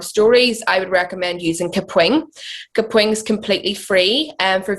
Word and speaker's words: Kapwing: Kapwing.